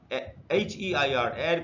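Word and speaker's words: heir: ए माना जाएगा और एन एड का मतलब होता है उत्तराधिकारी और इसमें हा साइलेंट होता है इसीलिए इन सारे शब्द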